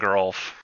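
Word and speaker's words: Geralf: is it jesa and Geral or Giza and Geral I would go for the latter believe it Giza and Geral so it's the soft and hard G and respectively so the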